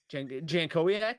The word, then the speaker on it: Jankowiak: Andy Jankowiak, is that how you say it? I think Andy that's correct. Jankowiak?